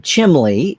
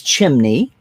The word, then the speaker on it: chimney: teacher told me that no it's not chimli it's chimney i remember in the